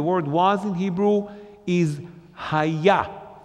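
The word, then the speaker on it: היה: Simply the word was in Hebrew is haya, spelled with hey, yud, hey. Once again, each one even alone is the name of God. Together, definitely, haya.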